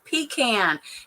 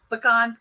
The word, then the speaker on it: pecan: if you want to it's pecan no it's not pecan remember Raquel I'm from the south and Southerners pronounce it pecan pecan pecan she's gonna kill me